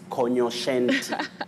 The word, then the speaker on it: cognoscente: in the street is cognoscente. Cognoscente. What? It's not cogno. That G and N takes the sounding just like in the word cognac. Cogno, not cogno. It's cognoscente. So we are talking about